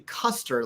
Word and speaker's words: Koester: So it's actually Koester, like general, but like you're in the ballpark, so you count. It's all good. General Koester, and potato, what actually does matter.